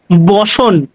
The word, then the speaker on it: ব্যসন: কথাটা আসলে উচ্চারণ ভালোভাবে করলে হয়। বসন।